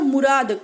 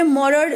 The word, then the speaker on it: Morad: उसने आके क्या किया, मॉरड भी बोल सकते हो और मुराद, कोई कोई मुराद प्रोनाउंस करता है, कोई कोई मुराद जो है वो प्रोनाउंस करता है, बट हमें जो है स्पेलिंग पे ज्यादा ध्यान देना है, MORAD. तो मैं यहाँ पे मॉरड जो है वो प्रोनाउंस कर रही हूँ और एरम, दो कजिन ब्रदर, ठीक है.